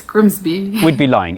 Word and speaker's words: Grimsby: But what if we told you it was pronounced Grimis? No way. It's Grimsby.